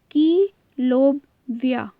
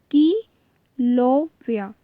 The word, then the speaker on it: Kilauea: Special, इसका name है कीलोविया। ठीक है, कीलोविया, तो ये इसकी स्पेलिंग है KILAUEA, वॉल्केनो। ठीक है, इसको प्रोनाउंसिएट करते हैं कीलोविया।